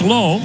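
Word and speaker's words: Lowe: guys in their lineup they spell their last name the same lwe one is pronounced low the other is pronounced loud that pitch outside the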